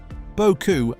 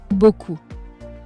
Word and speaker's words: beaucoup: Beaucoup, a lot. That P in the middle, completely silent. Beaucoup.